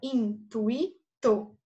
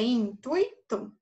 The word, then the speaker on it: intuito: Assim, na palavra intuito, há 3 sílabas: intuito. Existem pessoas que falam intuito, né? Então, nesse caso, o i ficaria sozinho, mas a pronúncia é intuito, certo?